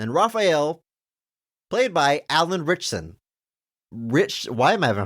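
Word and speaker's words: Ritchson: richon rich rich richon I feel like it should be Richardson it's just Rich it's just taking a syllable richson apologies Alan I'm I'm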